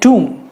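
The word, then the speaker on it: tomb: फिर ये कुछ और इंटरेस्टिंग शब्द जिनमें साइलेंट लेटर्स है, जैसे टूम। अब ये टोम्ब नहीं है और टोम भी नहीं है, ये है टूम। टूम यानी मज़ार किसी की, उसे कहते हैं टूम।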